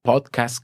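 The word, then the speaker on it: pódcast: aceptada también en español, podcast con acento en la O.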